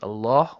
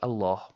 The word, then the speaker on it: Allah: And we talked about the ruling of the word Allah with a dammah, fatha, and a kasra and we also mentioned not to forget to pronounce the last ha in the word Allah.